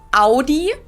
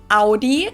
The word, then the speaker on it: Audi: I'm right up Audi in German we say Audi Audi and there's actually a